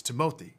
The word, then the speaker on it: Timothée: Yeah, it's Timothée. If you're gonna say your name, then you may as well say it right.